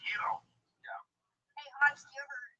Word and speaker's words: gyro: Why don't you go make me a gyro, Giannis? Okay. Whoa. That's out of the line. That's racist. I'm half Turkish. I did my DNA. I'm a rape baby. So, and it's pronounced Yiro.